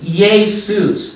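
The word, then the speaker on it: Ἰησοῦς: your Greek New Testament the Greek New Testament for Jesus will be yay Seuss that's what it's going to be that's Greek now let's talk about Latin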